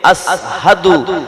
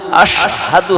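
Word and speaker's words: أشهد: উপরে তালুর সঙ্গে মিলিয়ে জিম শিন ইয়া তিনটি অক্ষর উচ্চারিত হবে। হাবশী বেলাল রাদিয়াল্লাহু তাআলা আনহুর ওই জিহ্বার মধ্যস্থলটাই হলো মোটা, তাই বড় শিন উচ্চারণ করতে গেলে ছোট শিন হয়ে যেত, আসহাদু আশহাদু হতো না। আশহাদু আন্না মুহাম্মাদার রাসূলুল্লাহ, এটা হতো না, হতো কি আশহাদু আন্না মুহাম্মাদার রাসূলুল্লাহ, বড় শিন উচ্চারিত হতো।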